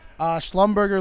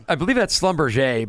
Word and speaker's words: Schlumberger: Schlumberger Limited, ticker SLB.